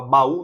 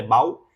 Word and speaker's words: baú: aqui é sílaba tônica você fala baú não é Bau ele tá sozinho acento